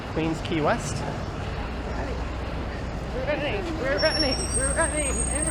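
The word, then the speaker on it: Queens Quay: a y qu but it's pronounced key Queens Key West running we're running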